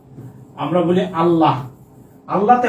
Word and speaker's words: আল্লাহ: যেমন আমরা বলি না আল্লাহ আমরা বলি আল্লাহ আল্লাহতে হ আছে তাইতো আল্লাহ কিন্তু আমরা উচ্চারণ করার সময় কি বলি ওরে আল্লাহ মানে আমরা এই যে হটা উচ্চারণ করি না ক্লিয়ার তারপরে হচ্ছে একটা